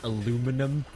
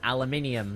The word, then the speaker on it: aluminium: i' I've said like oh in America you pronounce aluminium as aluminum no it's aluminium that's what its name is no we just